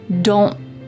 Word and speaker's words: don't: Do not becomes don't, but when we pronounce it in a fast sentence, you're more likely to hear don't. My tongue is at the top of my mouth, like it's going to make that T shape, but I just don't